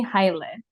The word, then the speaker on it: Haile: Maybe you can tell everyone the true pronunciation. Naomi Haile. Haile.